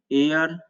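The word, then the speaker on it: heir: तो एच को निकाल कर इसका उच्चारण करते हैं तो ये होगा आवर, साइलेंट मतलब नहीं पढ़ते हैं। ये होगा ऑनर, ये होगा एयर, ये होगा ऑनोरेरियम, ये होगा एयरिस, एयर का ही स्त्रीलिंग है, इसका फेमिनिन जेंडर है।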